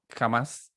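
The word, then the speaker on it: חָמָס: que hay definiendo un poco la palabra violencia, se escribe o en hebreo se dice jamás, ya que significa trato despótico, ya, o inmisericordia hacia un semejante.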